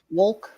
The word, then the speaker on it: Wolk: how do you pronounce your last name properly so we don't mess it up? Wolk.